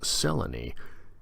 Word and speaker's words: Selene: there's a moon lady named Selene pronounced Sela knee and she does not